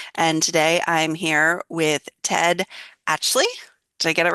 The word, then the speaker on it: Ted Atchley: one of the dialogue doctor coaches, and today I'm here with Ted Actley.